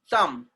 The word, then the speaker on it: thumb: Next one, thumb. Thumb. Thumb. MB are coming together again. B will be silent.